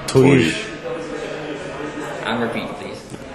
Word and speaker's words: Týr: First of all, tell us how to pronounce the band name. Tuir. And repeat, please. Tuir. Tuir. Okay. Toir?